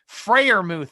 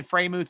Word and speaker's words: Freiermuth: But Tomlin likes to say he loves seeing that type of Freiermuth. Thank you. I say Freiermuth.